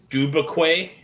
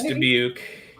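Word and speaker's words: Dubuque: Everybody always mispronounces. Uh, you're from Dub Dubquay. Dub. No, it's Debuke.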